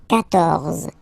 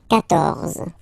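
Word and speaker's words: quatorze: So remember, Q and U here, well, basically you get to put this U vowel, because that's the rule in French, even if you don't pronounce it, okay? So you will get the sound K here. K.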